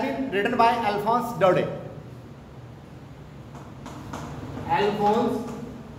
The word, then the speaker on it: Alphonse: Alphonse P is silent here.